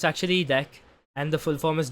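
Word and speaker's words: deque: Even when I learned that the pronunciation was deck, like it sounded like the English word de e ck.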